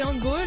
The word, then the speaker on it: handball: Parce que c'est un sport qui vient d'Allemagne.